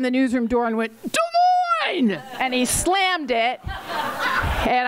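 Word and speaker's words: Des Moines: her the one time she mispronounced de Mo Iowa and said Des Mo I'll never forget I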